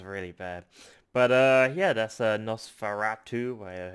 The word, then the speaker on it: Nosferatu: But yeah, that's Nosferatu, how you pronounce that.